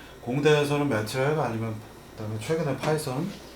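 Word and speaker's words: Python: 안에 반드시 들어가고 있는 파이썬이 있습니다. 그래서 파이썬 이 TH 발음이 번데기 발음 일명 그래서 파이썬이라고 하시는 그러면 이제 조금 더 이렇게 그럴듯해 보이는 그런 요소가 있습니다만 한국에서는 그냥 파이썬이라고 하고 있죠.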